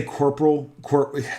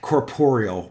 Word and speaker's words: corporeal: yeah so uh as that's a corporal corporeal pardon me yeah it's it's late